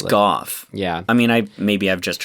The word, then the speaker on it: Gough: Michael Gough, is it? Or Go? G-O-U, I guess. I think it's Gough.